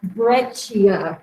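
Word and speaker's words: breccia: pronounce it but this conglomerate and this is pronounced breia the two seed is a CH sound in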